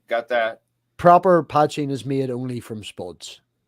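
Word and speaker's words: poteen: okay over here it's p-o-t-e-e-n okay and it's pronounced patching and that's the proper packaging ch all right got that proper patching is made only from spots right but what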